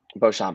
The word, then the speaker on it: Beauchamp: Beauchamp.